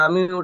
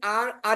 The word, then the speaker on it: R: আর এটা আর পড়েছি আর আর এর সাথে আরেকটা উচ্চারণ আছে হচ্ছে আ শুধু আ ব্রিটিশরা উচ্চারণ করে আ র টা উচ্চারণ করে না এজন্য আ হেইচ আ